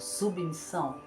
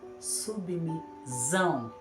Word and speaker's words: submissão: submissão submissão falamos rápido submissão Nós escrevemos com dois s para ter o som perfeito submissão se eu coloco um s só vai ficar subão está incorreta temos exemplo também da palavra